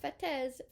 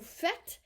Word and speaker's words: faites: Don't pronounce the E and the S, it's not faites. Vous faites, kind of like vous êtes, you are.